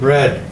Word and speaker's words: read: ideas today I read yesterday I read it red sounds like that sounds like red but it's spelled like this today I read sounds like this long is some read the EA okay yesterday I read